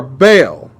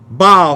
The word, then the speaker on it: Baal: deity called molech or baal bow how it's actually pronounced but baal so you know what i'm talking about and both of these